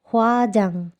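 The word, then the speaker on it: 화장: এটার উচ্চারণ হয়ে যাবে অনুস্বারের মতো, এটা হোয়া জাং, জাং। এটা নিচে থাকলে এটা তখন অনুস্বারের মতো উচ্চারণ হবে।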